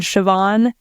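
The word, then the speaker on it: Siobhan: how they sound so M MH like the name Ma for example ma BH is a v sound BH is a v sound it's spelled m a e BH and sioban s i o b h a n so yeah right right BH and M M are are vs um and uh E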